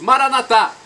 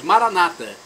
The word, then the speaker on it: Maranatá: E agora eu clamo, do aramaico, dialeto de Jesus, Maranatá, ou como dizem nossos irmãos separados, Maranata. Não importa a pronúncia, o significado é o mesmo.